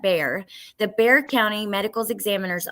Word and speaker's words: Bexar: But so the Bexar County, apparently you pronounce that Bear.